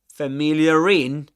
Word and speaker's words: familiar: In that case, in standard southern British English, you do pronounce the sound R or the letter R because familiar uh, let me write it down for you. Familiar. familiar. Okay. Right after it comes a vowel sound which is the only case wherein